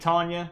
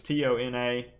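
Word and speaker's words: Tiona: Weston and I think Tonya I may be saying your name wrong it's tio na I'm bad at pronouncing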